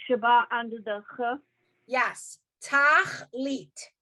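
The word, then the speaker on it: תכלית: Tachlit. It's 2 syllables.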